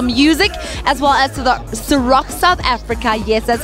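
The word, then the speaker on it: Cîroc: It's brought to you by Universal Music, as well as the Ciroc South Africa.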